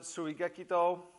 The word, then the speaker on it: Tsuigekito: Hello guys, Batto-Ho, number 3, Tsuigekito. Some folks pronounce it Tsuigekito, either one's fine.